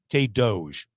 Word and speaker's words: K-DOGE: K-DOGE. I'm getting a nod over there. Yes, that's how you pronounce it.